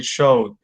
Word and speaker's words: showed: Sandra, remember that the ed ending is not pronounced as a whole, so we're going to say showed.